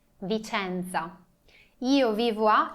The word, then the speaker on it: Vicenza: Lembram que a gente já viu que C-E, a letra C junto com a letra E é pronunciado CE. E não C, e não si, e não ci, mas CE. Vicenza.